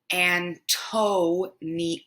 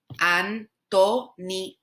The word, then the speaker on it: Antonio: Antonio, Antonio, not Antonio, Antonio. Your O's have to be shorter, okay?